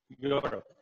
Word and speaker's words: Europe: But when we say Europe, okay, we have letter E, but the sound is not corresponding with the vowel sound. We say a Europe or a European. The sound is yeah that is pronounced in this letter.